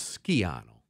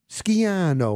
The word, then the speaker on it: Schiano: me say one thing the correct Italian pronunciation of uh that name was skiano is that how we're supposed